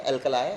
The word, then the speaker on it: alkali: अल्कलाई और अल्कली, according to the pronunciation.